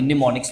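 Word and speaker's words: mnemonics: आप इस तरीके से प्रोनाउंस इस तरह से करेंगे निमोनिक्स वहां प एम जो स्टार्टिंग प है वो आपका साइलेंट है असेंबली लैंग्वेज उसको कहा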